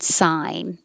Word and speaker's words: sign: to infinity and beyond sigh and sign exactly the same i will you start